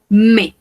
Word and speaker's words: mes: Recordemos que no pronunciamos la S. Mes parents.